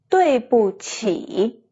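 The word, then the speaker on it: 对不起: 对不起。 The 不 here is a neutral tone.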